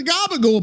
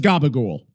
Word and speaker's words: gabagool: So gabagool's essentially an Italian-American slang pronunciation of capicola or copper, which is a type of cured Italian pork cold cut.